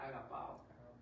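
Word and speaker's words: ἀγαπάω: Y así se eletrea y se pronuncia agapao.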